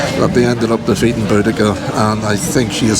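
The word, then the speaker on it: Boudica: Uh well I have to say when I was a kid um her name was they just um pronounced it bodisa but then the linguists got involved and they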